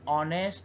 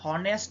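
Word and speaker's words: honest: example Jerry is অ্যান অনেস্ট বয় আমরা কিন্তু হনেস্ট বয় বলছি না অর্থাৎ হয় এইচ এর উচ্চারণ করছি না আমরা এইচ কে সাইলেন্ট রেখে অনেস্ট বলছি অনেস্ট সেজন্য আমরা এখানে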